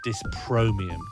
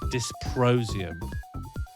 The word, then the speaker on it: dysprosium: I think I said dyspromium. Dysprosium.